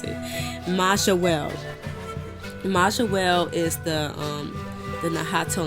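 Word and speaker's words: Mayahuel: Pronounce it. Majawel.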